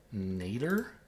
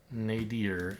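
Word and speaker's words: nadir: How do you pronounce that word? I've read it many times. cuz I don't quite know how to pronounce it. Nater. Nadier. Either of those is acceptable apparently.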